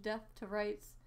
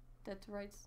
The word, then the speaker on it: Dead to Rights: Crimson Skies, High Road to Revenge, Death to Rights, Ninja Gaiden Black. Dead to Rights. Dead to Rights. You said death. Oh, well, it's Dead to Rights.